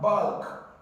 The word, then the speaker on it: bulk: about this option here you have bulk bulk so L is pronounced here so you can have